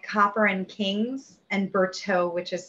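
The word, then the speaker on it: Bertoux: copper and kings and berto which is spelled b-e-r-t-o-u-x it sounds french but it's california it's french by way of california it's a modern aged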